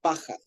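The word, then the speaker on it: פחד: Paja, como paja, pero con D al final. Paja. Y con acento en la primera A.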